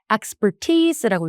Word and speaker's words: expertise: 근데 요것도 발음이 exp가 아니라 expertise라고 읽습니다. 그래서 expert에 좀 강세해 주시고 이게 영어 발음도 길다 보니까 한국말뜻까지 길어졌어요.